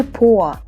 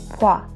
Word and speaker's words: 봐: We eliminate 다, we add a, and it's gonna be 보아. But we don't say it like that because o and a, they merge into a diphthong. So it's gonna be 봐.